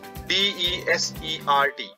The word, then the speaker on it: desert: Pronunciation. Similarly, another word is desert. D-E-S-E-R-T.